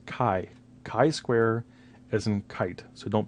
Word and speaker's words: chi-square: pronounce it correctly it is Kai Square as in kite not Chi as in cheetah not a chi square or chai as in chai T it's not chai square it is Kai Square so I've been in